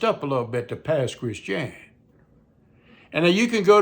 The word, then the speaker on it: Pass Christian: in a town called Pass Christian. It's spelled like Pass, P A S S. Christian. C H R I S T I A N like Pass Christian. But somehow it became Pass Christian.